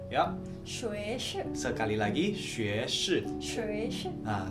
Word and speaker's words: 学士: Nah, guys, jadi S1 itu kalau di Mandarin kita bacanya 学士, ya. 学士 Sekali lagi 学士.